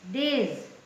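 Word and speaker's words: days: डी ए वाय एस डेज है ना अब इसको स नहीं बोलेंगे डेस नहीं कहेंगे डेज डेज मीस दिन दिनों बी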